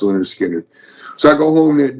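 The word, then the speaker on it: Lynyrd Skynyrd: And then he picks up, gets me Skinner, pronounced Leonard Skinner.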